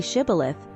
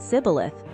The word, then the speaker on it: shibboleth: If he said no, then they said to him, "Now say Shibboleth," and he said Sibboleth, for he couldn't manage to pronounce it correctly.